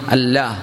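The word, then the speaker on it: الله: അള്ളാ അള്ളാ എന്ന് പറഞ്ഞ ലാ എന്ന് എവിടെ നാവുകൊണ്ട് പറയുന്നുണ്ടോ അവിടുന്ന് അള്ളാ എന്നുള്ള സൗണ്ട് വരണം അള്ളാ അള്ളാ അള്ളാ അള്ളാ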